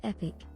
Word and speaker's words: EPYC: Pronounced epic.